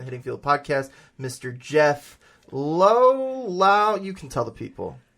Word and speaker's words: Laux: You can call me Jeffrey Laux, Lau, whichever. But what is it? It is going to be Laux. Laux. Yes, sir. So the X is part of the pronunciation.